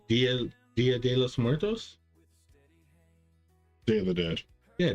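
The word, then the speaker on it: Día de los Muertos: Dolomerte? I'm saying it wrong. Dia de los Muertos?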